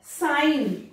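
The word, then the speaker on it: sign: साइन, common word है साइन, तो यहाँ पर एन एंड एन के पहले जी, जी साइलेंट।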